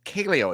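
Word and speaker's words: Kaleo: i imagine when you give their name um kelio it's spelled k-a-l-e-o and i i got a feeling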